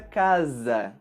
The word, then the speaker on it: casa: com a letra s quando essa letra está entre duas vogais ela vai ser pronunciada com o som da letra z é o som que nós temos por exemplo na palavra casa já letras e quando